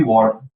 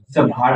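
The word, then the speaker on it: what: क्या इश होती है वट भाट मत पढ़ना बहुत से लोग भाट पढ़ते हैं भर पढ़ते नहीं वट पढ़ते ए में है जरूर लेकिन साइलेंट रहेगा ओके तो व्ट सब्जेक्ट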